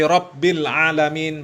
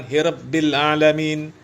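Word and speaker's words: رب العالمين: Ya, padahal orang Arab kaum muslimin, orang Yaman, ya, harusnya jelas Alhamdulillahi Rabbil Alamin, bukan Hirabbil Alamin.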